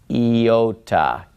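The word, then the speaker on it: iota: moment Yoda Kappa lambda now yota if we were to pronounce it in slow motion would be yota yota and it makes an e sound because it starts on an e yota yota so that one is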